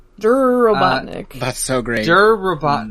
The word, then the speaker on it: Robotnik: Robotnik asks the leader he pronounces it dur dur Robotnik that's so great dur